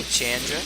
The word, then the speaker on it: Chandra: Hi, Chandra.